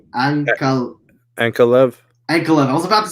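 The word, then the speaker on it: Ankalaev: Ankalev.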